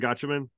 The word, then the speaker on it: Gatchaman: Am I pronouncing it right? Gatchaman.